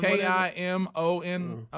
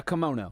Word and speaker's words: kimono: you call that I don't know how to pronounce that I thought that was a dragon I did too K you wear one k i m o n o I have several yeah kimono kimono yes yeah okay uh so Adler good